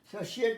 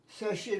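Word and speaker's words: satiate: TI এখানে তালব্য উচ্চারণ হয়, অনেক সময় TI থাকলে চ হয়, বাট তালব্য হয়। দেখো স্যাশিয়েট মানে প্রাণ ভরে খাওয়া, পেট ভরে খাওয়া, তৃপ্তি করে খাওয়া, স্যাশিয়েট বা তৃপ্ত হওয়া, স্যাশিয়েট, দেখেছ, স্যাশিয়েট, TIAT আছে এখানে।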